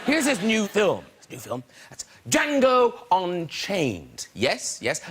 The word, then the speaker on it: Django: That's Django Unchained. Yes, yes, the D is silent, rather like the N in Tory cuts.